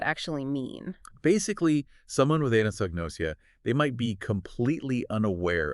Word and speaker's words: anosognosia: And the document uses this term, I'm trying to say it right, anosognosia. Yeah, anosognosia.